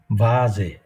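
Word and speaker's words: Vase: আর এইখানটায় দেখেন, এটা হচ্ছে বাজে, আমাদের বাংলা ভয়ের মতন, ঠিক এক্স্যাক্টলি ভয়ের মতন না। আমরা বাংলায় ভ বলতে গেলে দুটো ঠোঁট একসঙ্গে হয়ে যায়, কিন্তু এই যে বাজে,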